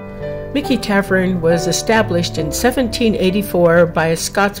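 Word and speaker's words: Michie: I know it looks like it should be pronounced Mitchy but they assure us it's pronounced Mickey Tavern was established in 1784 by a Scotsman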